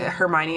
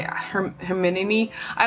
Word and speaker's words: Hermione: what Hermione looked like I didn't say it Hermione I her hermin I like I said it in my mind differently cuz I didn't have I didn't have a reference for how to say Hermione I didn't talk about